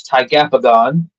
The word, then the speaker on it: Tigapagon: You got to read the prequel, which for those of you that can't pronounce it, it's Tigapagon, an amalgamation of tiger, ape, and dragon.